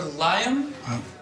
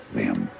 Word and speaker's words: Liam: a coffee shop and rather meekly correcting a mispronunciation of his name. Liam? I have a scone for Liam? Over here. It's, Liam.